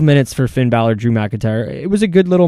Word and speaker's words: McIntyre: they had the whole Ziggler and Fallout with McIntosh, or how do you say his last name? McIntyre.